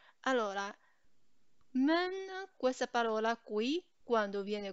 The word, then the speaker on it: 们: Questa parola viene pronunciata come men, men.